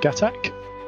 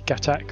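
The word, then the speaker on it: Gatac: this new company called gatak and this is the gatak railin cargo ship no it's Gat that's how you say it right hot okay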